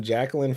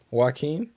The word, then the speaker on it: Joaquin: Jacqueline Phoenix Joker movie teaser you call them Jacqueline Phoenix what is it Joaquin Joaquin Jackie I'm one day we're gonna have